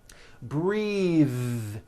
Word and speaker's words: breath: like in bathing suit breathe same thing breath is a noun take a breath unvoiced but when you change